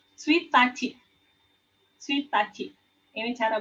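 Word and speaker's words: ついたち: Nah, untuk angka tanggal 1 itu bacanya bukan ichi, tapi suitachi.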